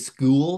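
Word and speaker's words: Skool: I said school because it's K with a K. So I assume you have to pronounce it weird, just like it's spelled weird. It's fine.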